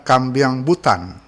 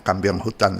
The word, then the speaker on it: kambiang butan: dari Thailand kemudian ada kambiang butan e ada yang mempelesetkan membacanya kambiang hutan tapi sebenarnya kambiang butan kambing butan butan itu negeri di